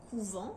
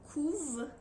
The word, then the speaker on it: couvent: nous avons un verbe donc par exemple le couvent c'est un moment et les poules couvent c'est un verbe donc à la troisième personne